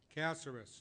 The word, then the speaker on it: Caceres: How is it pronounced, sir? Caceres.